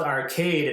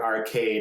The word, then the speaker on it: Archaide: long but the yeah it's called arcade and we hear that all the time in the audiobook but it's not spelled arcade like arcade it's spelled arcade a-r-c-h-a-i-d-e and so something why is that